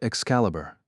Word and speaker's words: Excalibur: But in the game, it's pronounced Excalibur."